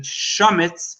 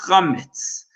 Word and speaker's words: chometz: And it's, even though some people pronounce it chometz, it's really pronounced chometz.